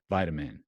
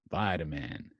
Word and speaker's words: vitamin: Amin and vitamin vitamin you've got this funny mark and the tea to make sure that it's kind of softened becomes more like a D now the question is